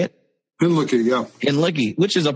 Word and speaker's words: Hinlicky: Hinlicky, yeah.